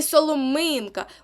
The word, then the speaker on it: соломинка: точно почули так і соломинка у нас наголос буде на третьому складі тобто оце два винятки